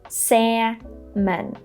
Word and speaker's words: salmon: Imagine there is no L. Just forget about this L, don't let it confuse you, and just say salmon. Salmon.